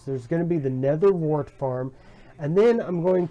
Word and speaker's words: nether wart: Yes, I finally pronounced it correctly. The nether wart.